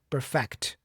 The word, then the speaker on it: perfect: The verb the stressed syllable is on the fact syllable, the second syllable. So, I say perfect.